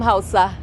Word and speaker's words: Hausa: I'm Hausa. Are you serious? Yes. Oh my God, you pronounced it correctly.